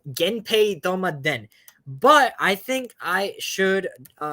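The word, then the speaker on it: 源平討魔伝: Okay, this game you pronounce it as. Let's find out. 源平とまでん Genpei Tomaden.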